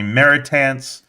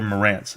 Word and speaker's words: Marantz: you know, growing up, nobody knew how to say my name. Teachers would call me Meritance, Marantes, Martinez, and hardly ever Morance.